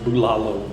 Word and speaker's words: Bulalo: Bulalo steak. I try to pronounce things correctly, and I had at first pronounced it bulalo, but I've heard the locals pronouncing it more like bulalo.